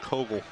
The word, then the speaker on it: Cowgill: You know, and Bill, and I'm sitting here with all this name trouble from a guy by the name of Kogel. It's spelled Cowgill, so there you have it.